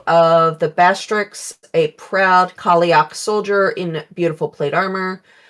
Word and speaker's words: Callieach: on this is it Callieach? Callieach is how I think it's how it's pronounced. Callieach. Okay, not each.